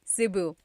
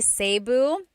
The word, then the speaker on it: Cebu: can be pronounced E or E like the letter I. So, I say Cu. Cebu. And I know some people say Sabu, but usually it's either Cebu or Sebu.